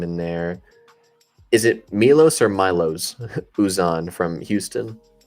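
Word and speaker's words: Miloš: It was Milos and people would say Milo's. I'm like, no, it's not Milo's.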